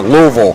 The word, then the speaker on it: Louisville: what about from the W area or the Louisville or Louisville or Lille it's pronounced louville W somebody's spelled for you there a couple